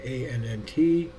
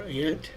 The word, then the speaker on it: ANNT: And I want to thank you for watching this unboxing of the ANNT, or ANT, however you want to pronounce it, 20-inch LED light bar.